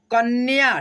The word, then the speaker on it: कन्या: गुब्बारे, कब्ज, कन्या, देखो यहाँ पे य है पूरा और आधा न जुटा है, तो य के साथ न का उच्चारण करेंगे, ठीक है, न्या, कन्या, ठीक है, इस तरह से।